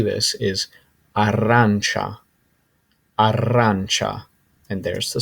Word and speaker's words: arancia: orange and the way to say this is arancha and there's the spelling of it next slide